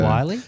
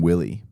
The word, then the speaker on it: Willey: Majority of people get your last name wrong, don't they? They do. They say WY. They're not comfortable saying Willie.